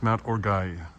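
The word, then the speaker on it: Mont Orgueil: And it's pronounced Mount Orgueil.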